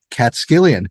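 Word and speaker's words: Catskillian: has been a lifelong cat skillion is that how you say it is that how we say it cat skillion right that's perfect I I I've heard it yeah cat skillion so Jeff has been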